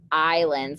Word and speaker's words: island: to the next paragraph islands i know it looks like the word is land that's not a word in english so this is how you say island because michigan has so